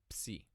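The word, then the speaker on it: ψ: Like other sounds we have seen, this does exist in English, but it never occurs in the beginning of a syllable, unlike in Greek. So the sound is psi.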